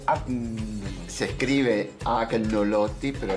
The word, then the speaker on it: agnolotti: Se escribe agnolotti, pero la G en italiano se pronuncia como la ñ. Ah, entonces es un agnolotti.